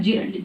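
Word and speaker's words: gerund: I don't know, कुछ लोग उसको गलत प्रोनाउंसिएशन भी करते हैं, बट इसका करेक्ट प्रोनाउंसिएशन है जिरंट, GERUNT, ओके।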